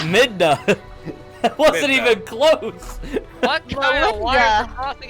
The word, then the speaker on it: Midna: uh belinda twilight princess you say melinda i probably said her name wrong melinda midna that wasn't even close